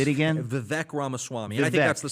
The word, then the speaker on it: Ramaswamy: Now, can you pronounce his last name? I'll wing it. Vivek Ramaswamy. I think that's like Gesundheit. Say it again. Vivek Ramaswamy.